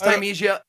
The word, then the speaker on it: Thymesia: I didn't even think there was another way to pronounce it. Like, it looked like, you know, parsley, sage, rosemary, and thyme. Mm. And I think it's Thymesia, honestly, because there are spices in the game that you pick up for your health.